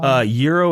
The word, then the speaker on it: Jiro: Euro, it's spelled Jiro.